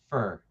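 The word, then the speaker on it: Furer: like it's fur, but it's f u r e r, but just pronounced fur.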